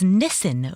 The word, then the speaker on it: Nissan: The car, Nissan, was Nissan over there.